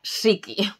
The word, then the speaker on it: Ssiki: van en dos lados que por cierto se pronuncia siki lo que tengo una caja que todo el